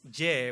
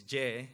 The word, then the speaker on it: Ye: So my nickname is J, which is Y-E. So when you pronounce it in Spanish, it's J. I mean, it sounds really similar.